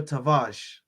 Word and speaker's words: Tavares: Cedric Suarez, Mohamed Elneny, and Nuno Tavares is how it's said apparently.